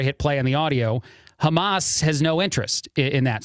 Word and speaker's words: Hamas: and the terrorist organization Hamas. That's the right way to say that, by the way.